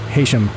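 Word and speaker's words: Heysham: we'll get over to Haitian, which looks kind of like Haysham. But I had to look at a pronunciation for that. It is indeed Haysham.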